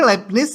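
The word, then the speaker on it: Leibniz: Nah, si Lebnis ini LPNIS bacanya itu menotasikan beda Y-nya delta Y, beda X-nya delta X.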